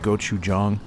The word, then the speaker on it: gochujang: It's actually pronounced gochujang.